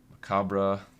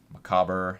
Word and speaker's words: macabre: priest or the waltz macabre macabre I think I've heard all of the ways to pronounce this and I think there's actually multiple pronunciations so I think we're more